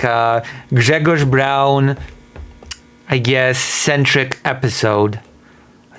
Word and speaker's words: Braun: It's called like here B R A U N. Brown.